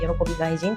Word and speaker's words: 悦凱陣: It's pronounced Yorokobi Gaijin.